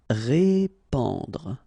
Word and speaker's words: répandre: Répandre. Okay, so here you get this AN combination, so the sound is en. Répandre, répandre.